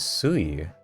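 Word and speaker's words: 水: The onyomi for mizu is sui. Huh. Okay. So when you see a kanji mizu combined in a word with other kanji, you read it as sui.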